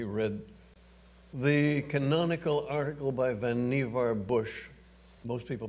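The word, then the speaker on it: Vannevar: was where he read the canonical article by van niever bush most people pronounce it van over but it was vanivar bush as we may think which ran first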